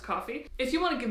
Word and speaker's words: Ko-fi: a little while ago it looks like Kofi but apparently it's pronounced coffee if you want to